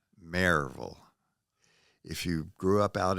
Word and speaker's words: Maryville: raised right in Maryville it's pronounced as if it's spelled m-a-r-e -v-u-l Maryville if you grew up